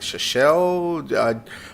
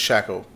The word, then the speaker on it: Shackle: I seen that name, I was like, Shachel? I think I butchered it every time, and then he actually sent me a message on Discord. It's just, he's like, it's just Shackle. You know, what you hold your trailer together with.